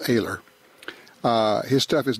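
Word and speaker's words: Oehler: Ken Aguilar PhD still makes some of the best stuff of a let's o h le r pronounced a ler his stuff is not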